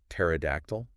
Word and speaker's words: pterodactyl: Like pterodactyl. Oh yeah. Why? Why is there a P? Why is that P there?